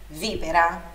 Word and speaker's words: víbora: No italiano não tem, mas a sílaba forte, a sílaba tônica é sempre o vi, víbora.